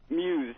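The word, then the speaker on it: Mues: Muse, M-U-E-S.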